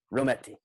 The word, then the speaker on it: Rommety: Rommety.